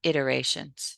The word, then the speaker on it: iterations: of the movies good you're just accent was in the wrong place it's just iterations you don't have to Accent the middle syllable okay nice well done